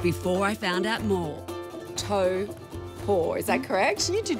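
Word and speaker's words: Taupō: had for Annika before I found out more tow pour is that correction you did really well so far yeah is the correct emotive pronunciation and I came here everybody said it's not taupo it's tow port hopeful that's how you pretty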